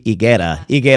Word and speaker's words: Higuera: I guess it would be Higuera, because you don't pronounce the H.